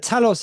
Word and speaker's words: Talos: But Talos is Talos, isn't it? That's how you say his name. Talos.